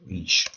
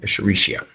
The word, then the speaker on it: Escherichia: coli, the E is for the genus, which is Escherichia. Spell it right? Escherichia.